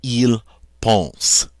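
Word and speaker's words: pensent: are going to add the ending e NP which is silent so this will be pronounced Ile Paul's they think japones G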